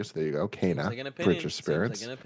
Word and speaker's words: Kena: Kena Bridge of Spirits is pronounced Kana per a Game Informer interview. So there you go. Kana Bridge of Spirits.